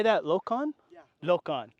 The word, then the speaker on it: Lokon: Is Lokon? You say that, Lokon? Yeah. Lokon, right. My pronunciations are terrible.